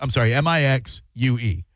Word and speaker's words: Mixue: Have you heard of Mixue? No. It is spelled Mixue. M-I-X-S-U-E. Mixue, but it's pronounced, M-I-X-U-E.